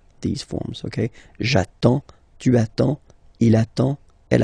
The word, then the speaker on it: j'attends: So the first form will be j'attends. J'attends. Okay, you get D and S. Well, basically you don't pronounce them.